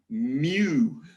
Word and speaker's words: mu: and how do you say this it's it's mu right and this so a population mean is